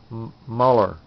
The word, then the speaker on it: Muller: Actually, it's Muller is how it's pronounced. Carmen, if you watch my videos, I apologize for mispronouncing your last name. It's Muller.